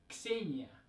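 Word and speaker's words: Ksenia: the next say Nia now this one's hard for English speakers to say because we don't usually have the sound and together at the beginning of a word right like we have it at the end of words a box but we don't usually have it at the beginning of words so we're taking that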